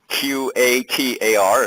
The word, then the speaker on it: Qatar: Sidra, which is in Qatar, Qatar, if you're not familiar with the way that is pronounced, is one of the jewels of the Middle East.